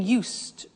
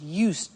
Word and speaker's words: used: I said used with a T sound. Used, not used or used. Used. That's very important to distinguish it from the other verb, use.